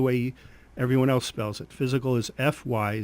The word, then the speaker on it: FYZICAL: calm you can spell physical the way we spell it or the way everyone else spells it physical is FY z IC al Cape May physical